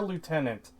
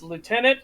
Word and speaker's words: lieutenant: that's that's accurate because it depends on where you're from how you say it so it's lieutenant or lieutenant lieutenant yeah and it's like where's the f it's like oh that's